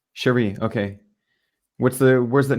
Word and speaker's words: Cherie: French French pronunciation um Cherie is like an Americanized version of Cherie yeah so why don't